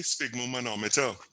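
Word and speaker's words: sphygmomanometer: How I pronounce it is just like say fig and put a S in front of it.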